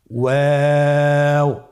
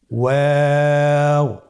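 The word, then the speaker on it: و: আমরা স্ক্রিনে দেখতে পাচ্ছি ওয়াও হরফটি উচ্চারণের ক্ষেত্রে বারিক হবে এবং 3 আলিফ টেনে পড়তে হবে। আপনারা আমার সাথে বলুন ওয়াও ওয়াও। 2 ঠোঁট গোল করে মাঝখানে ফাঁক রেখে হরফটি উচ্চারণ করতে হবে।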